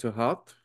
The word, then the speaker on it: Thoth: Thoth, sometimes pronounced Tahath or Thoth, Thoth.